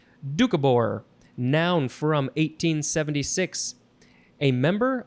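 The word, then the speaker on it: Doukhobor: word is ducabor I think that's how you pronounce it dukabor it is spelled capital d o u k h o b o r or you can take out the very first o dukabor noun from 1876 a member of a Christian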